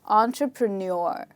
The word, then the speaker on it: entrepreneur: last part let's do it again so it's entrepreneur and if you want to use it in